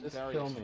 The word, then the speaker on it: Darius: It is apparently pronounced Darius. Darius, I just want to restart that one. That's weird. What, Darius? Correct. Yeah, that's apparently how you're supposed to pronounce it.